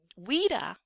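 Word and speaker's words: Ouidah: All right, so Wida, as it's pronounced in Benin, is the name of the place that you'll see now.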